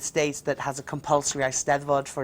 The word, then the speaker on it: Eisteddfod: You mentioned the Eisteddfod.